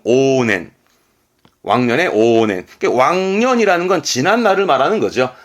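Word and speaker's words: 往年: 발음은 오넨.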